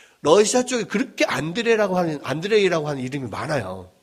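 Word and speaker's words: Андрей: 이름이 제일 많아요 그까 안드레이의 그 러시아식 이름이 안드레이 든요 어 안드레의 영어 영어 영어 발음 어떻게 됩니까 영어 이름은 안 안잖아 앤드 앤 영어는 영어식으로 앤드류 러시아에서는 안드레이 어 프랑스에서는 뭐라고 하죠 앙드레 응 어 앙드레 김이에요 말 하잖아요 앙드레 뭐 앙드레 앤드류 안드레이 뭐 이런게 다 같은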